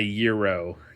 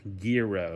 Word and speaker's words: gyro: It's not a euro. Gro. I got to pronounce the G.